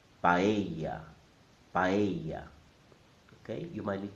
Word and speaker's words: paella: The correct pronunciation is in 3 syllables. Pa, e, ya. The stress is on the E sound. So I'm going to say it 3 times. Paella, paella, paella.